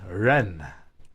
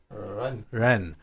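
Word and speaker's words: 人: words like for example the word people in Mandarin is Ren Renne but right more like an L as opposed to an R so when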